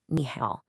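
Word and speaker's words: 你好: tones in a row the first third tone automatically changes and is pronounced like a rising second tone. So even though it's written it nihal it's always pronounced nihal.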